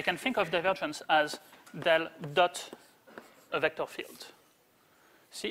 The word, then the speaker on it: del: So, let me just tell you quickly about the del notation. So, this guy usually pronounced as del rather than as, pointed triangle going downwards or something like that.